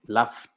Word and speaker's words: laughed: Pronunciación, laugh, como es una F el sonido y no vibran las cuerdas vocales, con T, laughed.